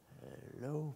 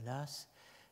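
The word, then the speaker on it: Law: dont le nom est Edmund Lass, Lowe, prononcé à l'écossaise, Lass, sous le titre An Essay on the Origin of Evil.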